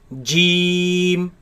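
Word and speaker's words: جيم: This letter has the ya in the middle, making the e long sound. Let's pronounce it. Jeem, Jeem, jeem, jeem, jeem.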